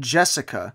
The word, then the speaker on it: Jethica: Jethica. And I say that because it's G-E-T-H-I-C-A. I'm not just doing my lisp. It's called Jethica. But then her name is said Jessica.